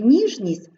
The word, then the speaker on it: ніжність: ми вимовляємо довго жовкнути у слові ніжність відбувається уподібнення приголосних за м'якістю 7 вимовляється як м'яко тому що після нього йде м'який Тік ніжність квітчання тече вимовляємо